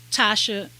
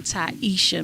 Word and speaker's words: Taisha: um leave with um tasha i i it might be taisha because of the way it's spelled so let me say that again ty isha miller um so this is